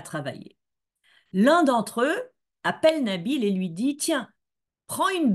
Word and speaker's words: Nabil: première syllabe du mot Nabil donc il a deux syllabes nabile la première syllabe veut